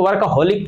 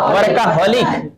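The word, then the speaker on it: workaholic: काम करते रहेगा, उसको वर्काहोलिक पर्सन कहते हैं। क्या बोलते हैं? वर्काहोलिक। हाँ, एक का उच्चारण ऐसे नहीं होता, वर्कहोलिक होता है, लेकिन वर्काहोलिक आप लोग बोलिएगा तो याद रहेगा स्पेलिंग।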